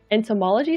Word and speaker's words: entomology: butterflies and the new entomology skill. Is that how you say it?